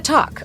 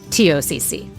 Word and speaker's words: TOCC: It might look like it's pronounced talk and we want to talk about the talk, but it's actually pronounced TOCC.